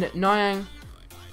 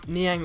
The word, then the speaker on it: Niang: I think I'm pronouncing it wrong in Nyang, but you can pronounce it either way, I guess, in Niang or Nyang.